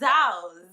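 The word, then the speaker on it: Tzu: It's Zhao. Z-U-T-Z-U is Zhao.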